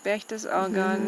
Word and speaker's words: Berchtesgaden: Berchtesgaden, ja, schön.